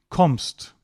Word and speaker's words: kommst: If you get ST and it's not at the beginning of a word or a syllable, then it's usually pronounced normally. Normally meaning s plus t, like kommst.